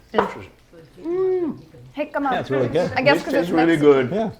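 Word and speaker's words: jicama: So you can again hikima, but it's spelled with a J. With a J. J I C A M A. Interesting. Hikma.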